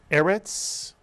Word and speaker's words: erets: word erets mitsu eret begins with a SE and therefore the accent is on the first syllable e erit erit means land or